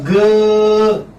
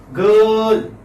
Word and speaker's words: girl: Girl. Girl. There's no ra here, remember.